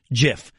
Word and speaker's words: GIF: It is pronounced GIF. So the guy that invented the technology told us all it's pronounced GIF.